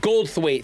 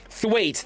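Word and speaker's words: Goldthwait: And there's Gold Thuait. That's it. Gold Thuait. Thank you. Thuait. That's Yeah, that's how you pronounce it.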